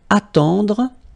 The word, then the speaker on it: attendre: Then attendre, attendre, remember final you don't insist on it, it just gives you the possibility to pronounce the dr, okay, so attendre, attendre, alright, and it's to wait.